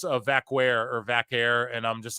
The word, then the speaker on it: Vaquer: it's you actually do pronounce it with like a K sound, so it is like Vaquer how they say it. It's not like how Puerto Ricans and Italians, Puerto Ricans and Dominicans like pronounce their stuff. It's not like that. So you have to say it with the K sound.